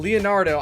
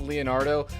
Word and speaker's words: Leonardo: I'm doing okay, man, and it is pronounced Leonardo, so it's all good.